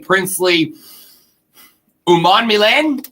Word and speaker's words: Princely Umanmielen: Carolina would then obviously go on to draft Nick Scorton and Princely Umanmielen, I believe is the correct pronunciation.